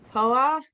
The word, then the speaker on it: Poa: Poa? Boa rhymes with boa, like a feather boa.